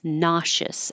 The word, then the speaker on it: nauseous: shorter one nauseous and it looks like there's so many vowels how could it just be two syllables nauseous as in I feel